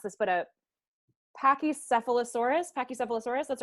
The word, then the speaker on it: Pachycephalosaurus: Bob and then I'm probably totally gonna incorrectly pronounce this but a Pachycephalosaurus Pachycephalosaurus that's right zach is that correct his next